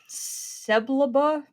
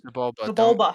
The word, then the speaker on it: Sebulba: Seblaba? Is that how you say that? Sebulba.